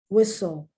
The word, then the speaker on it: whistle: you don't hear it whistle there's a t there you don't hear it and also the